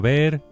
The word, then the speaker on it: ver: As usual, the v is pronounced as a very light b. ver ver Can you give the Spanish for, "I want to see your car?" Quiero ver tu coche.